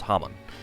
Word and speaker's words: Haman: And Haman, or Haman. It's pronounced differently. It's Haman.